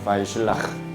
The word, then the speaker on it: וישלח: 대표님이 구체적으로 자세하게 진단과 팔주차 파라샤의 제목은 바이실라흐라고 해요. 바이실라흐. 끝에 이게 헤트 발음인데 목에서 나는 이런 발음이 돼가지고 발음하기가 쉽지 않아서 여기다가 괄호 안에다가 히읗 발음을 집어넣었습니다.